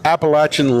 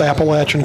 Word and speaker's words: Appalachian: that produces high quality appalachin Lumber and you pronounced Appalachian correctly bless your heart R thank you it's not Appalachia whatever and following up is